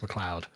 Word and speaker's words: MacLeod: It's just Scottish. There's no you in there. I don't disagree that Scottish is a strange and gay language, but it's still pronounced MacLeod. Until he changes his name, it's MacLeod.